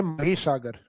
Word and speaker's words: महीसागर: हालांकि English title तो वो माही लगता है अपने को क्योंकि स्पेलिंग वही है माही लेकिन उसका हिंदी प्रोनाउंसिएशन लिया गया है महीसागर। तो अपने को महीसागर ही याद रखना है।